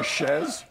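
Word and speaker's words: chaise: get used more sorry so i've been saying it wrong for like 10 years it's a chezz we've been seeing shades okay it's not it's not a it's a it's it comes from the french chez long that's why i don't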